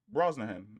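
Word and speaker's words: Brosnahan: Bro name pronunciation. Let's see what this sounds like. Broahan. Oh, okay. Broahan, it's instead of an S, it's a C.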